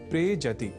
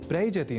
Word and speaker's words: प्रेजति: दोनों के मेल से शब्द बनता है प्रेजति। प्रयजति नहीं।